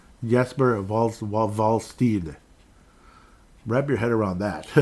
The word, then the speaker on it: Wallstedt: It's not Stead. It's like, I forgot what it is. Like Steed, I think. Jesper Wallsteed. Wrap your head around that. Jesper Wallsteed. So anyhow, Mr. Wallsteed with 2.09 goals against average.